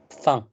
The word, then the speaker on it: fin: How do you pronounce FIN on its own? Fun.